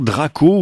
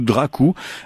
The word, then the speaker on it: Drakoo: Drakoo ou Drakoo, vous le prononcez comme vous le voulez.